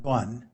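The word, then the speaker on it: 断: It means duan. It's pronounced duan.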